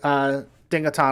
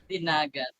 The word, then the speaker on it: Dinagat: say, if you're in the eastern islands like Dingaton and all that. And I probably just butchered that. There's one for the blooper reel. Yeah, Dingalan Islands. That's what I meant. Dinagat.